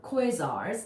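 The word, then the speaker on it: quasars: since somebody asked about quasi stars or quazars that's exactly how you say it so very good job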